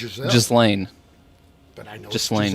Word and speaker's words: Ghislaine: Ghislaine. That's what it says here. But I know it's Giselle. Ghislaine.